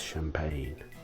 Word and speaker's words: champagne: make three different sounds and there's champagne it's french how dare you guess